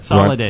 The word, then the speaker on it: Salada: my name is holiday rhymes with holiday every day every day is a holiday I am 38 years